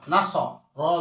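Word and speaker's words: نَصَرَ: নুন জবর না, সদ জবর স, না স, র জবর র, নাসর, নাসর, নাসর।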